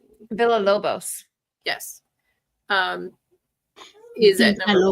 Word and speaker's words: Villalobos: Villalobos.